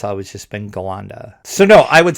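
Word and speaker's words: Ghallanda: pronounced and it's usually pronounced skalanda in which case the h is completely insignificant yeah exactly yeah that's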